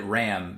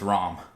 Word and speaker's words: Ram: I always said it Ram because that's how it's spelled. And when I watched it in Japanese, I just figured like it was a pronunciation thing because of the language barrier. So I just kept saying Ram. But no, it's Rom.